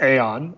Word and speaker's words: Aion: how do you pronounce it yeah it's it's pronounced Aon uh I I don't think I had anything